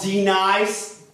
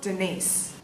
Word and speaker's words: Denise: of y'all here with some silly name called D-Nice? Y'all gonna feel my wrath if she ain't here. Do you mean Denise? Son of a peacock! You say your name right, huh? Denise.